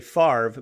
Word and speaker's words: Favre: was F A RVE because that's how you say it you say Favre but it's spelled fav so Brett Favre who